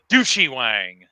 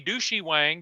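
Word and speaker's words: Du Shi Wang: my second favorite battleship of all time, the Douchey Wang. Oh, wow. DU space. Please tell me that is not how you actually pronounce its name.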